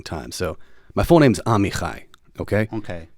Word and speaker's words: Amichai: It wasn't always pronounced correctly. It was usually Amy or something like that, or Ami.